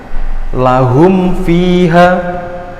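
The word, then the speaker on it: لهم فيها: Contoh kedua, ada bacaan lahum fiha. Lahum fiha. Jelas. Lahum fiha, nggak boleh dibingungkan, nggak boleh lahum fiha, nggak boleh. Apalagi disamarkan lahum, nggak boleh ya. Jadi bacanya harus jelas.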